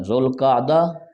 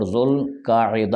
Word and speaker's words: ذوالقعدہ: 11واں مہینہ ہے ذوالقعدہ۔ اس کے دو تلفظات ہیں، ذوالقعدہ اور ذوالقاعدہ، اور اس کی جمع ہے ذوات القعدہ، یعنی عین پر زبر اور عین کے نیچے زیر، دونوں طریقوں سے اسے پڑھنا جائز ہے۔ ذو کا مطلب والا